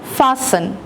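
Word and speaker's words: fasten: फासन, यहाँ पे T silent है।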